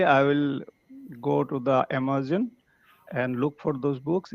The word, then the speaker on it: Amazon: this world after me so it's Amazon Amazon no not amama Amazon Amazon right okay can you repeat one more time Amazon Amazon not Zan Amazon Amazon okay like there